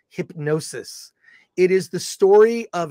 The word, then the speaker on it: Hipgnosis: and it is pronounced even though in in the the film it's hip g-n-o-s-i-s it's actually pronounced hypnosis it is the story